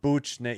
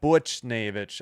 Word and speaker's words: Buchnevich: Buchnevich Yeah, it's like Butch Butch Butch Yeah, Butcher Well, let's just say Yeah, Buchnevich.